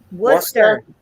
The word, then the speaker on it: Worcester: a we have a war sester Township Montgomery County down here it's Worcester yeah down here they call it War sester yeah that's like when